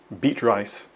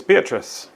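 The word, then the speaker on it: Beatrice: loves Adventure beet rice so what girl's name might wrongly be pronounced beet rice here's the answer the book featured a character named be rice who loves Adventure so the answer is beatric and lastly number 14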